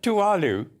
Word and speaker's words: Tuvalu: How do I pronounce it? Tuvalu.